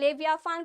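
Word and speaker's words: Leviathan: हैं ठीक है ना ये टीएम हमारा साइलेंट है इसको हम लोग फा पढ़ते हैं लेविया फान पढ़ते हैं एंड ऑप्शन सी हमारा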